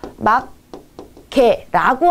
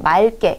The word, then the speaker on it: 맑게: 막개라고 한다면 이왕이면 두 개의 이 발음을 정확히 온전히 해주는 게 좋지만 우리는 발음의 편의성을 위해서 둘 중에 하나만 남기는 거거든요. 그렇기 때문에 이왕이면 뒤에 기억이 남는 경우에는 기억이 두 번 겹치는 것보다 앞에 리을을 남겨주고 맑게 이렇게 해주는 게 더 효율적이다, 정확한 뜻을 알